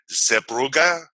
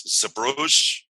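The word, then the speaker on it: Zeebrugge: on okay and the the proper way to pronounce this is zebruga okay but a lot of people pronounce it as subrage so i'll just pronounce it as a bruges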